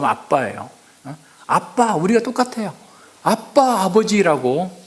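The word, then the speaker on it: אבא: 아라마 발음 아빠예요.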